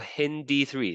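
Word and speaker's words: HindIII: and then what about hindi3 that's how you pronounce this one hindi3 it's a a CTT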